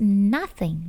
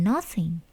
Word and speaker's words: nothing: dibaca jadi nach nach It's nothing nothing bukan nosing jadi terkadang seperti itu